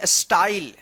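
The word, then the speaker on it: style: स्टाइल। क्या पढ़ेंगे? स्टाइल। एस टी वाई एल ई। स्टाइल। ठीक है? यानी वाई रहेगा तो इसका क्या उच्चारण होगा? आई उच्चारण होगा।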